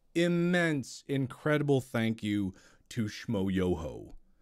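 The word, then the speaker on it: Schmoyoho: incredible thank you to Schmo Yoho Accent on the yo where is the ho I can't remember shoyo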